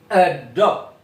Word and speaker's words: adopt: Oke, number one adopt adopt. Jadi tekanannya tuh di suku yang terakhir teman-teman the last syllable.